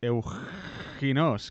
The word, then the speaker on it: Euxinos: Y entonces por eso yo creo que Eusinos, diciéndolo así como con X, que tampoco se pronunciaría así, pero bueno, sería más fácil. pues fíjate, dice las pruebas de Simur. Yo digo Euginos, como J bien española.